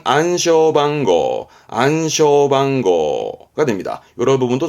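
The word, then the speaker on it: 暗証番号: 일본어에서는 발음은 안쇼방고가 됩니다.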